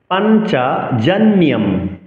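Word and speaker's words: পাঞ্চজন্যং: পাঞ্চজন্যম অনুসার পড়ে থাকলে আমরা ম উচ্চারণ করব।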